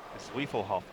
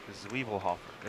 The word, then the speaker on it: Zwiefelhofer: How do you say that? Zwiefelhofer. Sounds like the beer. Zwiefelhofer.